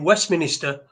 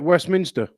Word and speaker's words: Westminster: I've supported myself if someone who's lived in Westminster all the life is not gonna mispronounce it no Minister yeah he's not he's gonna come at Westminster yeah and he called it West Minister yeah so you could